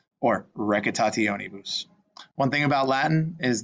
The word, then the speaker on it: recitationibus: This one is to kind of remember every syllable gets pronounced. So take a second, break this one down and see how you can put it together. Remember, all the C's are hard, and TIO is they're pronounced separately. It's not sh. It doesn't make a shun sound like it does in English.